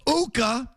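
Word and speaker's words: Ukko-Pekka: For this stiff who can't keep his job against Uka, rhymes with Tuukka, Pekka Luukkonen.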